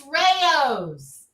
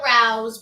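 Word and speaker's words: Rao's: this whole brand and everybody calls it round it's Rayos but that's okay but let's continue to call it Rouse but it's Rayos model they're both spelled the same way it's all the same but as a New Yorker it hurts somewhere deep inside when someone says routes are you deep dish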